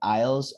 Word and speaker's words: aisles: right or whatever so aisles are also what how do we say that in spanish at all you know in supermarkets we don't pronounce the s okay and if you're